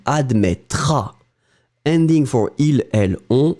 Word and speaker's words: admettras: You don't pronounce the final S. Tu admettras.